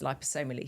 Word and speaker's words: liposomal: to take it is liposomally same with vitamin C and so I'm a huge fan of so I call it lipo obviously be pronouncing it wrong for the last five years so liposomal yeah see I shouldn't just